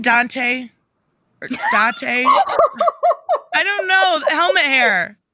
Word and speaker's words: Date: His name is Masamune Date. It's spelled as date, but you put Date.